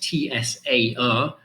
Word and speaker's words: Tsar: And they call their royals Tsars, okay, spelt T-S-A-R, but the way I pronounce it is basically Z-A-R or Z-A-R, Tsar, right?